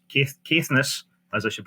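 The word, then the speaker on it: Caithness: to an area familiar to both of us Kess kiess as I should pronounce it um where Alexander did a lot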